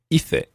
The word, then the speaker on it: hice: in the preterite tense, we're going to look at the Spain pronunciation first of all, and then I'll conjugate the whole thing in Latin American Spanish pronunciation too.